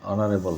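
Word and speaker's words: honourable: রহমান সাহেব একজন সম্মানী লোক, mister Rahman is অ্যান অনারেবল person, man, অনারেবল ম্যান, অর্থাৎ অনারেবল এইচের উচ্চারণ নাই, অ্যান বসছে।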